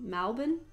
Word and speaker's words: Melbourne: yeah, something a lot of people have been saying is like the Victorian pronunciation, particularly in Melbourne, of Melbourne being Malbin, and I said pank, and that's what made me think of it.